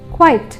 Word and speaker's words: quite: நான் இதை பற்றி சொல்லும் போதே என்னோடய உச்சரிப்பு வித்தியாசம் உங்களுக்கு தெரிஞ்சிருக்கும். குவைட் அப்படின்னும் பொழுது QUIET, குவைட் அப்படின்னும் போது QUITE.